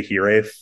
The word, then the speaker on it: Hiraeth: want to pronounce it I say Heth for instance because I think that it's a more like American way to say it and it's more easy